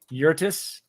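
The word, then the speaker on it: Yurtrus: Uh, how would you pronounce that? Urtus.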